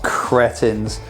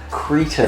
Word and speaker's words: cretin: The 35 million people of this country pronounce it Cretin.